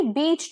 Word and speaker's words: bitch: सो for example there are many बीच trees near the railway station. इसमें आप देख सकते हैं स्पेलिंग चेंज है, W आ गया। इसके बाद आता है BITCH बिच, इसका प्रोनाउंसिएशन बिच होगा, नॉट बीच।